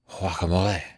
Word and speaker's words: guacamole: what nationality they are because if if you're from Mexico you would pronounce it more like wacamole yeah and then I